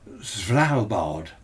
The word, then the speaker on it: Svalbard: And on the 14th at 1300 hours, up right up north, not far from the Arctic, how do I pronounce it? Svalbard. S-V-A-L-B-A-R-D.